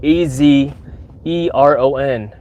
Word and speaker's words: Azeron: azeron which it looks like a bionic hand it's spelled a z e r o n azeron Aeron azeron it's uh what country is